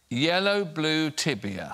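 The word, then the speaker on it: я люблю тебя: you want to read the next one out yellow blue tibia yeah yellow blue tibia uh is yellow blue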